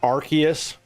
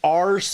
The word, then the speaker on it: Arceus: The promo material was was saying Archus. So that's what you wrote with. Well, that makes sense because at least somebody was actually literally saying it as that. And that makes way more sense than saying ars in any way.